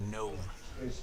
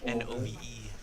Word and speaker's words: Nove: It says here on the paper he wants his name pronounced Nove. Nove. N-O-V-E.